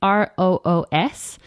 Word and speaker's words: Roos: I'm Plant with Roos on Instagram, and Roos is the Dutch spelling of rose, so it's Roos, which I thought would